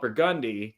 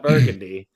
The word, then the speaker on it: Burgundy: We have a street called Burgundy. Don't call it Burgundy. That's not what it is, even though it's spelled exactly the same way.